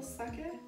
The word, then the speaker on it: sake: But it's pronounced sake. Cats. Oh, sorry. Sake. It's like Kobe versus Kobe.